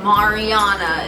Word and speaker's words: Mariana: you want to see her in more videos Mariana is how you pronounce right yes because this was fun did